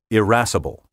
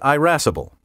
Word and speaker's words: irascible: even tempered pronunciation tip irascible may also be pronounced with a short initial i erasable of the two pronunciations irascible is the older and reflects the quality of the vowel in the words latin ancestor so if like me you're a pronunciation patent with a classical bent say irascible however erasable has been listed in dictionaries since the 1920s and probably is more common among educated speakers today so if you're easily